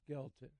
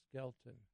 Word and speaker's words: Skelton: skeleton and skeleton who skeleton I keep pronouncing that wrong SK and Skelton and who was the